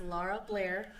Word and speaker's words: Lara Blair: Pronounce your name for everybody. It's Lara Blair.